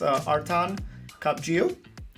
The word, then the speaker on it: Artan Kapxhiu: Today I am here with Artan Kapxhiu. That's the Albanian pronunciation.